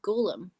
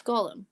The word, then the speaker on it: Gollum: Is it Gollum? Yeah. Some people say Golem. Gollum. It's Gollum. Yeah, I'd say Gollum.